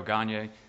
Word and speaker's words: Gagne: I'm going to say this wrong, but I think it's pronounced Gagne. It is.